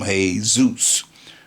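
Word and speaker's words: Jesús: day you know many have named their babies j-e-s-u-s you know they call them hey Zeus in modern days you know Spanish or whatever language you want to speak that's what it's how it's pronounced so this is a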